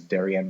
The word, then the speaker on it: Darien: racist um I think the saying is Darian rhymes with Aryan It's A Sundown town